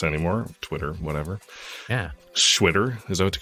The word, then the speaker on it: Xwitter: And so it has it's like a Chinese X pronunciation, and it rhymes with shitter. It sounds like shitter.